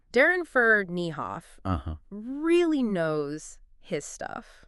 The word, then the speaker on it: Ferneyhough: And for anyone who doesn't know, that's pronounced Ferneyhough. Ferneyhough.